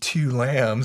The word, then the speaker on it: Tu Lam: to pronounce that right i pronounce my name two lambs so you you guys don't butcher my vietnamese name you know so on